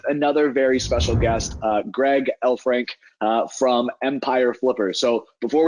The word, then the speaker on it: Elfrink: really easy to pronounce just like in the magical creature elf and a hockey rink combined you know Lord of